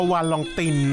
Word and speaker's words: Valentin: ถาม แก มา ครับ วาเลนติน เจ้า ตัว บอก ว่า ถ้า อ่าน แบบ ฝรั่งเศส นี่ ต้อง อ่าน ว่า วาลอง ติน นะ ครับ ชื่อ แก พักชัย ตั้ง